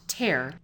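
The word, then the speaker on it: TERR: run time for our abbreviated ter are pronounced tear is tip ko's high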